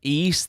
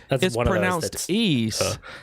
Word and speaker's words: Ys: newest Nintendo Direct video when they pronounced it they were like East the lacrymosa lacrymosa of Dana like hermosa of Deus something like that it seems ease yeah and it's weird